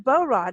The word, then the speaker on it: Bohrod: I would dig into Aaron's bow rod am I even pronouncing his name right you know how I am as well as far as I know you are yeah oh good that's exactly how I said okay well if you